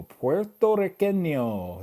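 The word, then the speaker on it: puertorriqueño: Puerto Riqueño. That's how you say it in Spanish.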